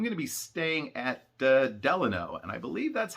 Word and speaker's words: Delano: be staying at the delano and i believe that's how it actually is supposed to be pronounced just like the middle name of the 33rd president franklin delano roosevelt from what i understand